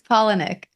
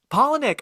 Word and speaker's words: Palahniuk: say his name, Chuck Palahniuk? Is that how you say it, OT? I looked it up. It's Palahniuk. Palahniuk. Oh, okay, easy. All right, I'm adding more syllables.